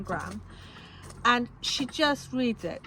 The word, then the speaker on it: Graham: So it's read by Lauren Graham is her name, and I've been saying Graham because that's how I would naturally say that word, but she knows how to say her own name, so it's Lauren Graham.